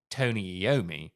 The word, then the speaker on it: Iommi: Now, I think I'm correct in saying that it is pronounced Tony Iommi.